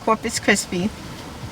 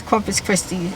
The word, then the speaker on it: Corpus Christi: We're out at the beach at Corpus Christi. I keep saying Crispy, but it's Corpus Christi. I think that's how you say it.